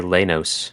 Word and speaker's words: Leynos: How would you pronounce this word? I'd say Leynos.